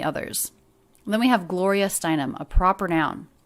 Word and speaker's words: Steinem: then we have gloria steinem a proper noun now anytime we have a name it's the last word in the name that's the most stressed so gloria galore the